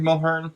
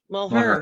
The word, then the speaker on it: Mulhern: Mulhern? That's how you say it. Mulhern.